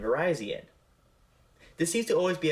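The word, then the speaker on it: Virizion: reviewed the Victini movies I pronounced their names as Cobalion Tron and Verizion when reality their names are calian Terian and verian this seems to always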